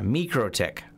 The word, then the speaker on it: MikroTik: whoops they have it mikrotik pronunciation someone has in here yeah me crow tick that's according to the micro tech people how is that anyways